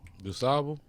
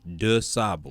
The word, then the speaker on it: DuSable: DuSable. No, you say DuSable. DuSable. Yeah. I say DuSable because I've been in the city so long.